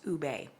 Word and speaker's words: ube: So this is Wildberry and Ube. That's how it's pronounced, Ube, okay?